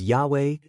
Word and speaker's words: Yahweh: air, and he fire, abbreviated as Yhvich, and pronounced as Yahweh, God or Yhovah, gods.